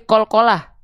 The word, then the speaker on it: qalqalah: Bukan qolk pisang tapi qalqalah.